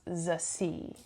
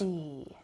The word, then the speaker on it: Zazie: Oh, by the way, I looked it up and it's pronounced Zazie. Zazie Beetz. Zazie. Like kind of like the sea, Zazie.